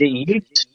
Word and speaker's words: Uth: I know it's spelled UTH, but I don't know how to pronounce it. Oot. Is it Ute?